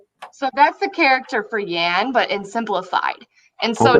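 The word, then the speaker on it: 言: speak is this and the pronounciation is yan so that's like what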